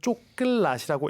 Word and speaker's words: coklat: 그 다음에 초콜릿이라는 단어는 쪼끌낫이라고 읽습니다.